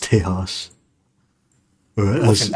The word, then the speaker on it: Tejas: It's pronounced Tejas. Or With as, an X at the end. oh, Tehax?